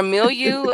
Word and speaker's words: Mille: Or Milieu? How do you say it? I don't know. I'm not rich, so I can't afford nothing like that. I would never. Richard I know Mille. Richard Mille.